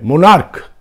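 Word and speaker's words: monarch: এর একটা পার্ট তো যদি ক উচ্চারণ হয় মোনার্ক তখন মোনার্কস যখন আমরা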